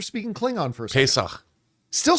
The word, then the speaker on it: Pesach: Happy Pesach. Is that how you say it? Yeah. It sounded like you were speaking Klingon for a second. Pesach.